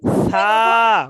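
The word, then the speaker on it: ثاء: সা। বলেন। সা। সা। সা তা জিহ্বার আগায় হালকা একটু কামড় দিয়ে পড়তে হবে, হ্যাঁ, তাহলে নরম হবে।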